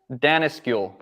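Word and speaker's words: Danneskjöld: Danaskul.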